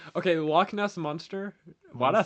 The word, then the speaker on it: Loch Ness: It's like creatures that may or may not exist like Bigfoot, the log nest monster, stuff like that. No, you don't. Okay. Loch Ness monster.